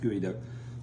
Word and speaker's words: geoduck: you look these up it's spelled geod duck g e o d c k but it's pronounced gooey duck look at this we